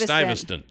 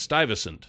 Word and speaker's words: Stuyvesant: Okay, anyway, No, it's Stuyvesant. It's really? I'm sorry, it's Stuyvesant. Stuyvesant.